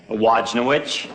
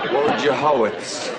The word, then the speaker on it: Wojciechowicz: Wojnowicz. Wojciechowicz. You say it just the way it's spelled.